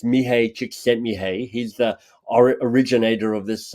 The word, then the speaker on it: Csikszentmihalyi: So here's how I mispronounce his name. It's Mihai Csikszentmihalyi.